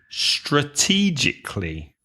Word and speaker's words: strategically: do it strategically so how many syllables strategically four syllables and the stress is on the second syllable strategically strategically can you